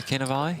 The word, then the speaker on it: Cannavale: Yeah, Cannavale.